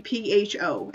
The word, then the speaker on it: pho: It's actually pho, and you pronounce it like pho, but without the K.